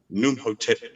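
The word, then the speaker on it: Khnumhotep: Imhotep won a ruler, as you. No, Num. I'll spell it to you. KHNU, M for Mary, Hotep. Numhotep II.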